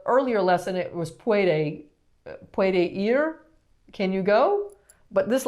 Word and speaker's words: ir: Ir.